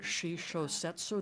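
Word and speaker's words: shishōsetsu: I also fell in love with the Shisho Setsu, the eye novel, is that how you say it?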